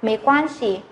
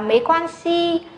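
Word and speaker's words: 没关系: Cả lớp nhớ nhá, cái âm cuối cùng là chữ xi này, nó là thanh nhẹ, nó không hề có một thanh điệu, nên là nó là thanh nhẹ, mình sẽ đọc nó nhẹ nhàng hơn so với các thanh khác. Vì thế cái này mình không phải đọc là mấy quan si, mà mình phải đọc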